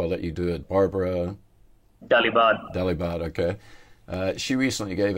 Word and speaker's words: Barbara Dalibard: I mean, your boss, and I'm probably going to mispronounce her last name, so I'll let you do it. Barbara Dalibard.